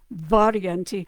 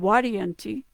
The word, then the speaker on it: Varienti: like a wa, and the V is actually more of a wa sound, Guarienti, in Latin anyway. So so I'm going to say it in kind of modern pronunciation, Guarienti, Varienti.